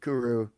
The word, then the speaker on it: kuru: Someone mentioned kuru.